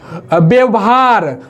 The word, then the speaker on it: व्यवहार: व्यवहार, वो भी गलत हो गया, व्यवहार, व यहाँ क्या बोलना है? व्यवहार, वो इसका उच्चारण करेंगे।